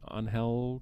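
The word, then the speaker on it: Ángel: I think he's Spanish it's spelled angel but I know it's pronounced on hell kind of roughly with her and he's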